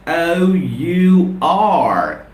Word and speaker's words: hour: quiescent Edge is inactive H is dull it is silent in the spelling of h o u r and how do we